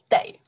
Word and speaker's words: 得: We pronounce de.